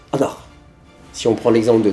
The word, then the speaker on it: ankh: Donc au final l'apostrophe le N et le H avec le tiret ça se prononce Anar Si on prend l'exemple